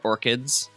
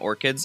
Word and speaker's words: ORCID: These are all our orchids, or ORCIDs. I like calling them orchids. I think that may be how you're supposed to pronounce them, but yeah.